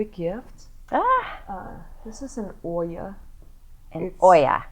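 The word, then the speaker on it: olla: This is an Oya. Oya. This is Oya, although it's spelled O-L-L-A.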